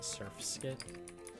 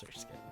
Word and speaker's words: Surskit: I'm pronouncing it correctly now. It took a little bit. I'm still probably going to pronounce it Surfskit a couple times, but I know it's Surskit.